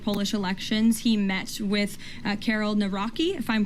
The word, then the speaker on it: Karol Nawrocki: He met with Karol Nawrocki, if I'm pronouncing that correctly. Yes, Nawrocki.